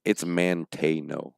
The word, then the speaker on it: Manteno: And also, Melvin, we want to know how to pronounce Manteno. It's Manteno. I know it is. Manteno. That's what he told us. See, I told you I'm not. But and it's Manteno, right? That's how you say it, because that's how he told.